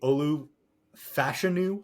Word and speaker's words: Olu Fashanu: They take Olu Fashanu, I believe is how it was hammered in on draft week is the correct pronunciation.